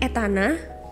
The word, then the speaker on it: Etana: Atau boleh Etana, tapi tolong jangan dipisah jadi kayak nanya gitu. Etana gitu.